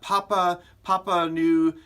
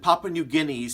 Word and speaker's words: Papua New Guinea: pronounce the name and he said it's Papa Papa knew and I said is it Papua New Guinea and that's the country